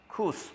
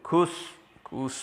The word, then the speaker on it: Chus: Swear means make a strong, like a pledge, making a strong statement to Tubal, another Jew, to Cus or Chus, I suppose it should be pronounced Cus, his countrymen, that means